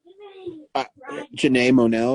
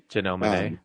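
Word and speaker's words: Janelle Monáe: I mean, I like uh Jana Monell, is that that's how I pronounce her name, right? Janelle Monet. Janelle Monet. I got it backwards.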